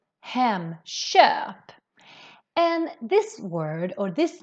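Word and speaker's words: Hemköp: the front vowels then the sound of the k changes more to a sh sound so that's why we pronounce this as hem sharp hem sharp and this word or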